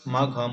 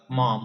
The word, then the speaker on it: Maugham: আজ আমরা আলোচনা করব দ্য লানসন অর্থাৎ লান্স উইলিয়াম সমরেস্ট মাঘম অর্থাৎ মম উচ্চারণ করব আমরা মম।